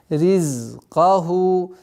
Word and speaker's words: رزقه: Нужно над займ, над свистящими звуками, если находится сукун, нужно немножко удержать, чтобы до конца произнести все свойства, присущие этим звукам. Ризкаху, ризкаху, ризкаху.